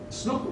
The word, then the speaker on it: Snouck: Now, it was for such reasons that a young Dutch scholar with a horrible name, Christian Snouck Hurgronje, just known as Snouck, rhymes with book.